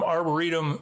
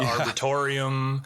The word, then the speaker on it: arboretum: Some people say, we've heard so many mispronunciations. We have a whole, running joke in the arboretum, the arboretum, the arboretorium.